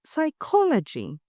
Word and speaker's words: psychology: Similarly, the word psychology kept its P to show its Greek roots, but the pronunciation dropped it.